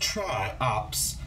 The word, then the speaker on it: Triops: Triops, pronounced Triops, which are also called tadpole or shield shrimps,